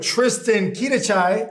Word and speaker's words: Tristan Quidachay: here with Tristan Quidachay. Yep, that's right. I'm pronouncing it right now.